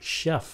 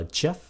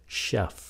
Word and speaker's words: chef: Chief âm ch mà chữ này là Chef là âm SH các bạn đừng có phát âm là jef nó là Chef chữ này là Decade